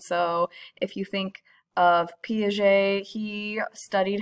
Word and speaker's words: Piaget: to my young child how to pronounce Piaget even though the G does not sound like a G that would be really